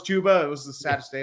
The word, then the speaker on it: Chuba: It's like saying you think Chuba Hubbard is pronounced Chubba Hubbard, and Oh, then when yeah. I found out it was Chuba, it was the saddest day of my life.